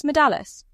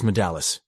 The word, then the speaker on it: Madallis: Who is Aras Madales? He's like a father. I've known him since childhood. Where is Aras now? His name is Aras Madallis. You have to say it like that.